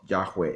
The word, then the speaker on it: Yahweh: So most of the experts, the consensus among experts is that the hypothesis of Yahweh is the most likely pronunciation for the Tetragrammaton.